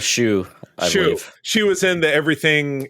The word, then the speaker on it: Hsu: HSU. How do you pronounce that? You've seen her in other stuff. Shu.